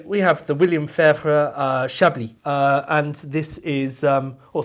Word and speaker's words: Chablis: But so we have the William Fairfur Chablis, and this is Chablis. I didn't realise this, but the emphasis on the last part of Chablis, not on Chablis, but I mean, pronounce how you like.